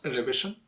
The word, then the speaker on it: revision: Revision, not revision, revision. Because V is right before the last syllable. So you have to stress that syllable. You have to make it louder.